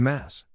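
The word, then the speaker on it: Maß: matter the most the mass mass short for mass grug is the enormous dimpled Stein glass mug in which Octoberfest beer is typically served the term is pronounced appropriately with a lengthy a sound it gets its name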